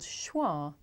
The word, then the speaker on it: schwa: John no not really it's actually called schwa schwa which is pretty strange when you think about it because the word schwa doesn't have the schwa sound uh in it so why is